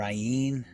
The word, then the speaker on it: Ayin: the pronunciation of the ien is also very significant as are all the letters and it is often mispronounced as a silent letter however ayn's correct sound is guttural it's a throat sound which stimulates the thyroid